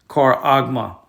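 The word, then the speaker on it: χάραγμα: It's called charagma. Okay, let's get the Greek transliteration. As you can see right there, the pronunciation, charagma.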